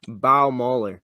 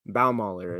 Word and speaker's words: Baumüller: It's Joby Baumüller. Baumüller is how you pronounce it, but Baumüller in that